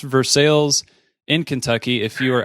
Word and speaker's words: Versailles: ever around Versailles Kentucky and yes it's it's pronounced Versailles in Kentucky if you are outside of Kentucky some would call it Versailles but it's for sales and it's probably one of my favorite bourbon